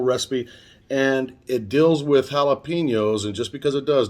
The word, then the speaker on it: jalapeño: Also, you're going to need some big jalapenos. And if you want to pronounce it properly, it's jalapeno.